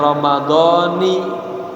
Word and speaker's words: Ramadhani: Ini bacanya Ramadhani ya, jadi baca kasroh.